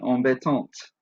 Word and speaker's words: embêtantes: Embêtante has a silent E and a silent S to make it feminine and plural. The silent E makes the T at the end sound out.